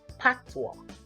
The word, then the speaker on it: Patois: at the dialect used in Jamaica which is pronounced Patwa Patois is an english-based Creole language with West